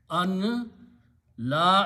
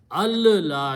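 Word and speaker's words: أن لا: we're calling the azan, don't pronounce the noon. Al la ilaha. An, noon, and lam comes after that. Lam takes over the sound of noon. So you pronounce al la ilaha twice. Al la. Do not pronounce an la.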